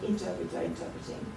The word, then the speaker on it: interpreting: You've got to be careful with this word interpreting. Yeah. The wrong syllable is stressed every time, you know.